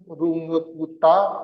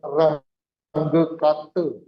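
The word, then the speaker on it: Runge–Kutta: Jadi jangan Anda panggil mereka dengan Range Kate. Itu Inggris. Mereka bukan orang Inggris, orang Jerman. Jadi bacanya persis seperti tulisannya. Runge Kuta.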